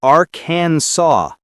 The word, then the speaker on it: Arkansas: It looks like it should rhyme with Kansas, but it doesn't. It's Aransaw.